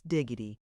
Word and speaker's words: Dougherty: cook, is a person introduced to us as Miss Diggity. We afterwards learned that this is spelled Dougherty, but it is not considered good form in Scotland to pronounce the names of persons and places as they are written.